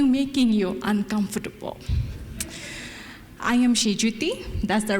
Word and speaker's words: Senjuti: decided to continue making you uncomfortable I am GGT that's the right way of saying my name